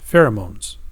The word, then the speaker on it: pheromones: here this tells you how to pronounce it fair uh moans pheromones right so these are